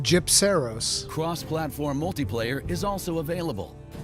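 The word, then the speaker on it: Gypceros: pronounced Gypseros.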